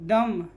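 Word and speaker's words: dumb: Silent. डम, बी क्या है?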